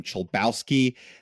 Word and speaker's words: Chlebowski: I have a very complicated polish last name chel Bowski that is spelled c hle e b as in boy